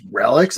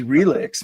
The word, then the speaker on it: Relix: Oh, it's Relics? I've been mispronouncing it my entire life. Yeah. What did you think it was? I thought it was Relix, man. Like it's a relic. Like a relic, dude.